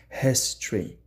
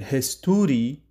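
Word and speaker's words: history: و کوتاهتر خوانده میشه هستری هستری یعنی وقتی صحبت شما میگین هستوری اشتباه است ولی اگر هستری بگین باز درسته تلفظ دقیق افهام و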